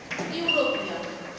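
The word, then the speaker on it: European: যেমন আচ্ছা এখানে এর উদাহরণটা লিখছি, এ ইউরোপিয়ান, দেখো ইউ এর উচ্চারণটা কি হলো, ই এর উচ্চারণটা ইউ এর মতো হয়েছে, ইউরোপিয়ান, সেই জন্য এ ইউরোপিয়ান।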